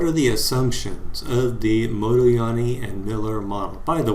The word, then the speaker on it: Modigliani: among other things and he told me it was pronounced motoyani and i said moloyani and he said no you're saying it all wrong it's model yani so apparently there's this thing that americans can't say or hear that has to do with this name so we'll just call